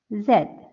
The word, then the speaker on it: Z: g p t v zed zed in British English it is pronounced as Zed but in American English it is pronounced as Z you know there is